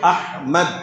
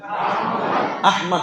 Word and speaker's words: আহমদ: একেক ভাবে বলে কিন্তু কোরআনে এই নামটা যেভাবে এসেছে তাকে উচ্চারণ হচ্ছে আহমদ বলেন তো আবার বলেন আহমদ আহমদ শব্দের অর্থ কি